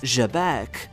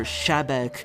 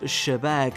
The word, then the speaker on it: Xebec: So, keep in mind, it's not pronounced or shabbec, but with a softer J like in French, though, the pronunciation of Sheabek isn't too far from it if you prefer that.